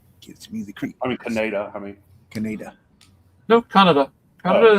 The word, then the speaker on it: Kaneda: Canada is the proper way of pronouncing it. Canada is more of an American pronunciation, but if you listen to them in the Japanese original, it's Canada.